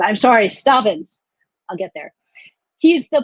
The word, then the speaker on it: Stavans: First, we have Ilan Stavans, who I keep pronouncing his name wrong. I'm sorry, Stavans.